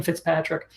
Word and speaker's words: Fitzpatrick: said her name wrong I think I said Fitz Joe because I know what Kathleen Fitzgerald but it is Kathleen Fitzpatrick who wrote generous thinking